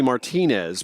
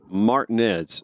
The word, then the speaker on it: Martinez: Well, I grew up outside of Martinez, Georgia, and anywhere else it would be Martinez, but in Georgia it's Martinez.